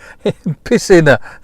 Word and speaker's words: piscina: When it's trying to tell me it just has a very bad Spanish pronunciation. It's just piscina.